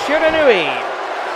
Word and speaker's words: Shiranui: that going for Shiranui and yes it is pronounced Shiranui one no eight minutes left on the clock